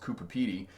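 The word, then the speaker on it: Coober Pedy: PT Cooper Peter is it spelled but it's pronounced Cooper PD and people would drive to Cooper Cooper PD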